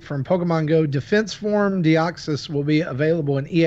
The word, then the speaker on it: Deoxys: yeah did I know Jessie did not pronounce that right deoxys that is correct all right see I'm